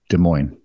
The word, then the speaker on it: Des Moines: of the Canadian Army no no no it's pronounced Des Moines no told members of the House of Commons